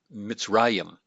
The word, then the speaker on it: Mitzrayim: is mitzrayim mitzrayim and notice the accent here in the second to last syllable the the pre-tonic syllable and so we have mitts that's our first syllable there it's got a silent chihuahua because it's coming after a short vowel and then we have the accent there ra and then our yod